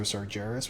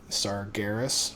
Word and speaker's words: Sargeras: of s saris or sargeras whichever way you want to pronounce it uh there's a vendor now GIS right yeah I think I think it's a hard G right GIS SAR Garis right uh so there's a